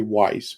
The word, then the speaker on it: Weis: is a weisser whis i always say weiss but i think i say it wrong it's margaret weiss margaret hey i said it right margaret weiss douglas niles